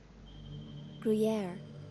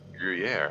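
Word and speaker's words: Gruyère: mine's a great career how do you even pronounce that do gruyere gruyere okay so it's like French firm Tangy cheese all right yeah this once again that grave accent is missing mine's gruyere it's such a Nutty cheese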